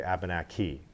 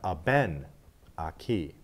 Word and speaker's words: Abenaki: The emphasis has to be on a certain syllable. The third syllable from the end in any word that has more than three syllables has the emphasis or the stress. In English, we often stress the end, so we say Abenaki. Now, if I go back three, we have Abenaki.